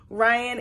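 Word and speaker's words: Rhian: gonna say his names it's like r h i a n Ryan and Mish and they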